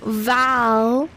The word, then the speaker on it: Val: No, if you want to actually look it up, it's Val, like Valerie, 𝚘𝚘𝚒𝚗𝚒.